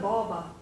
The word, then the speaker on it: baba: As jy praat van 'n baba, jy praat van 'n baba. So the last A is short. Okay, it doesn't sound long.